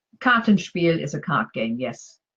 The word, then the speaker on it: Kartenspiel: And phrase 15 is Kartenspiel. And Karten is card, Spiel is game. So I'm going to go with card game. But is my pronunciation correct? Kartenspiel is a card game, yes.